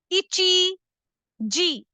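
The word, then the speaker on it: 一時: सो 1 बजे को जापानीज में कहते हैं इची जी। ये जो पहला अल्फाबेट है ये है ई, फिर ची और ये है जी, तो इसको बोलते हैं इची जी।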